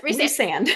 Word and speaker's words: Rhysand: And like Rhysand is, how do you pronounce his name? Yeah, it's Rhysand.